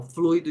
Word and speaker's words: fluido: u que é fortão fluido de freio um assunto fluido é assim que se pronuncia não é um assunto